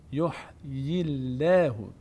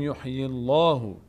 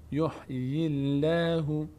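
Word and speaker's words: يحيي الله: به لام اما چون اینجا قبل از لفظ جلاله کسره آمده اینجا دیگه لفظ جلاله پر خونده نمیشه چطور تلفظ میشه دقت کنید یحی یحی الله نمیگیم یحی الله نه یحی یحی الله دهان به سمت بالا باز نمیشه از بغل باز میشه نمیگیم یحی الله نه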